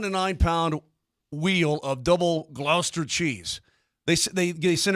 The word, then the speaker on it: Gloucester: they do this okay isn't it pronounced Glouster what something like that yeah Glouster gluster gler whatever so these idiots for years